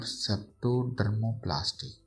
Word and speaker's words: septodermoplasty: Where सेप्टोडर्मोप्लास्टी, sorry, I mistakenly pronounced that one. It is called septodermoplasty, where anterior part of nasal septal mucosa is excised and replaced by a split skin graft, ठीक है।